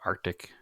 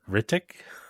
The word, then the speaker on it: RTIC: So I maintain they're Ritic. nope. You are quite wrong, but that's okay. That's how I always read it. I mean, if you look at it phonetically, it is RTIC, so it is R. Yeah. Tick. Yeah.